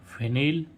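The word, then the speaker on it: finale: आ रहा है ई इस ई का उच्चारण क्या हो रहा है ई एफ आई एन ए एल ई यहां पर ए नहीं होगा ये गिने चुने वर्ण है एफ आई एन ए एली फिनाली ऐसे ही इसमें रेसिपी आर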